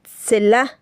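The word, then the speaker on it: צלע: Cuando dicen la traducción, "Eva salió de la costilla de Adán," en hebreo la palabra no es costilla, sino se pronuncia celá, que significa lado, dimensión o parte lateral.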